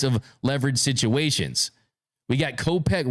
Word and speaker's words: Kopech: We got Kopech rhymes with closer, colossal.